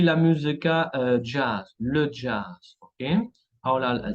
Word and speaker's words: jazz: Y terminamos con la letra Z, la letra Z que se pronuncia, muy poco tenemos, pero tenemos algunas como le gaz, el gas, y la música jazz, le jazz, ¿ok?